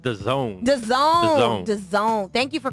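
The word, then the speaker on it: DAZN: It's The Zone. The Zone. So I The didn't Zone. spell that out.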